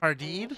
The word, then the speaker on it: jardín: It's a J, but it's pronounced with the H sound. It's like sardine, but with an H.